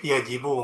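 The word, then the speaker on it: يجب: Kalau wajib yajibu, enggak majhul. Nggak yujibu itu, Tat.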